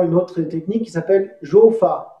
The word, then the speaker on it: Rou: Après, on verra également une autre technique qui s'appelle Jo-Fa. Ça s'écrit R-O-U, roux, mais ça se dit Jo.